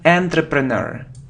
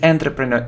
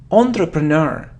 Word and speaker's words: entrepreneur: many people make mistakes here look it isn't entry preneur it is an entrepreneur it's all entrepreneur entrepreneur it's like a businessman entrepreneur entrepreneur entrepreneur